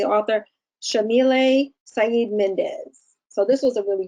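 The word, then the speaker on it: Yamile Saied Méndez: by, I just want to make sure I pronounce her name correctly, the author, Shamile Saeed Mendez.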